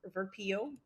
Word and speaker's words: Verpillot: time um pronouncing it I think in English would be pronounced verpo does that make sense